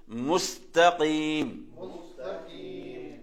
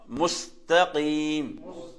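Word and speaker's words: مستقيم: இந்த முஸ்தகீம்ல காஃப் இருக்கிறது, அப்படிதானே? காஃபை கவனிக்கணும். அதே மாதிரி இந்த சீன்ல சுக்குன் வருது. அப்ப நாங்க இது ஓதும் போது முஸ்தகீம். தா சிம்பிள் தான், சாதாரணமா முஸ்தகீம் முஸ்தகீம். அதே மாதிரி அடுத்த உதாரணத்தை கவனிங்க.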